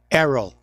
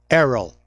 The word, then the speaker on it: Errol: It's Whatever, pronounced Errol. Errol Okay. in the Netherlands. Okay. No H.